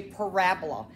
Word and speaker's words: parabola: kids like to say it's called a parabola and is spelled p-a-r-a-b-o-l-a parabola that's what the